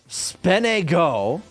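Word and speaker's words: SPNEGO: API negotiation me uh-huh often pronounced speno oh my God is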